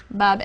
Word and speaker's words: Babel: magnificent Shrine or temple in Babylon pronounced Babel which simply means Gateway